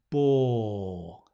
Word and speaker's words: bore: he bores me right make the or quite a long sound it's a diphthong or no it's not it's a long vowel or ball lovely coming